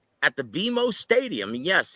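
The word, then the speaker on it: BMO Stadium: in LA on Saturday August 3 at the bimo stadium yes it's pronounced bimo Stadium right not guys I was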